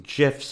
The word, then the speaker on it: GIF: I prefer GIF as well. Yeah. This is not interesting. I like a soft G.